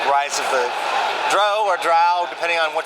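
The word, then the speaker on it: drow: and said it's Dro as in row nice it goes literally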